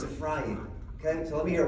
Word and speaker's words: Ephraim: If Ephraim were standing right here, he would say, "Who the heck is Ephraim? It's not how you say it in Hebrew. And if you're from the tribe of Ephraim, it's a frying.